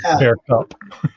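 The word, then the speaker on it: beaucoup: here mercy bow cup they don't pronounce the p on bear cup in france i'm not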